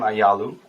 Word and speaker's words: Ayalew: yeah for sure so my name is aalu um that's how you pronounce my name uh so I was born